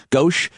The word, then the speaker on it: gauche: it it would seem almost how's the word pronounced gauss i know what it means gauche to uh to to talk about the ineptitude